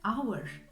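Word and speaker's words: hour: buna e Uniform demeliyiz bir diğer örneğimiz ise avır farkettiyseniz başındaki iyi okumuyorum dolayısıyla da Bu kelimenin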